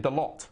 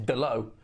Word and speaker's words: Dalot: You read it Dalot, but it's Dalot.